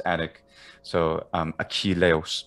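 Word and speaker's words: Ἀχιλλεύς: it's attic so um aqui leos so there we have a ka but it's um the letter chi so it makes a has an aspiration on it so it's not merely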